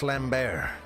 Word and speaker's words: Slambert: Sorry, it's pronounced Slambert.